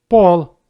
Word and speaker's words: пол: Letter O in the words with one syllable always pronounced like O. You may repeat after me. Кот, кот. Рот, рот. Нос, нос. Пол, пол.